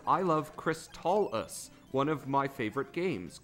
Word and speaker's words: Crystalis: Hammocksat says Crystalis is the proper way to say it. Like Crystalis with a T from crystal in it.